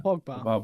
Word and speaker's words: Paul Pogba: Paul Pogba.